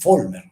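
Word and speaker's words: Vollmer: La B se pronuncia como F, entonces Volmer.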